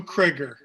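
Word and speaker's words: Criger: indiana elkhart indiana born lou krieger it rhymes with trigger was considered one of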